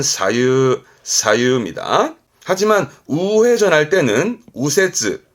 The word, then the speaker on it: 左右: 오른 우자 대표로 뭐라 할까요 기본적으로는 좌우 갑시다 발음은 사유 사유입니다 하지만 우회전할 때는 우세 발음이 우가 되는